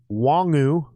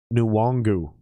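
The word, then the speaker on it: Nwangwu: admit i'm wrong but from everything i've understood how you pronounce that dude's last name our backup running back number 26 is nuwongu nuwangu and they just keep saying wangu wangu it's driving me nuts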